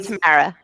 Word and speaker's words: Tamara: How do we Tamara?